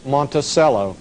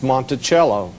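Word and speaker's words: Monticello: A lot of people call name call the name Monttoello. Actually the correct pronunciation is Montichello.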